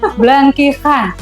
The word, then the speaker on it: Blangkihan: Agak sulit nyebutnya karena aksara Lampung itu tidak ada huruf H. Adanya H Berarti K, kayak ini K ya. dan H. Jadi Hijaiyah ya, Bu, ya? bacanya Blangkihan. Blangkihan.